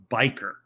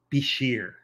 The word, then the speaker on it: bishir: told for this fish is biker but in fact the local name that you that they call it in the region where this biker is founded is actually be sheer so I have been saying it wrong for 30 40 years but in fact this